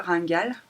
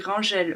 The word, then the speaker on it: Rangel: C'est Andrea Rangal. Ça s'écrit Rangel, mais voilà, je vous montre. Mais apparemment c'est Rangal qu'il faut dire.